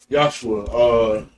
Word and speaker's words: Yahshua: Yeah, Yahshua is the proper pronunciation.